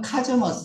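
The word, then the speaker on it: cosmos: 코즈 고증은 이제 코스모스 코스모스 코스 발음은 카즈머스 그래요 맞죠 그래서 카즈믹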